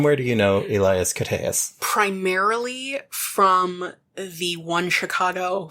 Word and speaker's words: Koteas: Going by the pronunciation on Wiki, which, okay, I always said Koteas, but... I've always said Koteas, so... So it's Koteas. Koteas. I was pretty close. There's a schwa.